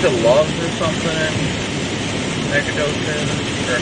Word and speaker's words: Nacogdoches: Nacogdoches, that's how it's pronounced out here, Nacogdoches.